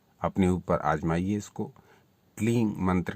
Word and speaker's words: क्लीं: याद स्मरण रखिए, क्लींग यानी अंत में ग का उच्चारण नहीं करना, और क्लीम क्लीम क्लीम अंत में म का उच्चारण भी नहीं करना, केवल उस बिंदी का उच्चारण करना है।